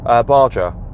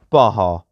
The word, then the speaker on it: Baja: You then have rock, and you also have Baja. Although I've probably pronounced that incorrectly, haven't I? Yeah, I know, I pronounced it wrong. I was meant to say Baja.